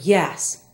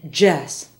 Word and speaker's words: yes: by some Spanish speakers Y is often said as J they get mixed up an example is the word yes Spanish speakers will often say Jes other Y words are